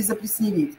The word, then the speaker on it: заплесневеть: И следующее слово «заплесневеть» или «заплесневеть». «Заплесневеть» или «заплесневеть». Плесень, заплесневеть. Заплесневеть. Это будет правильный вариант.